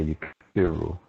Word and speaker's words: يكفر: القسم الثاني يكفر بالعين وهو يكفر with a sukun, a kasra on that back. Kasra on that back. Oh, okay. يكفر.